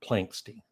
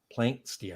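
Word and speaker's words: Planxty: Planksty, I think is how you say it.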